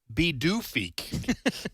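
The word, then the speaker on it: Pituffik: I tu U FF I K and it's pronounced B doof.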